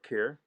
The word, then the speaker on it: Kerr: I was quite impressed with Deborah Kerr. I think this is the very first time I see her, and when she starts Star. It speaking, rhymes with star, as we were always reminded by.